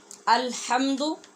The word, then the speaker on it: الحمد: ترجمہ بھی پڑھ سکیں۔ الحمد، ہاں کو ٹھیک پڑھنا ہے جیسے میں نے آپ کو پہلے سکھایا تھا، حمد نہیں پڑھنا، الحمد، الحمد بھی نہیں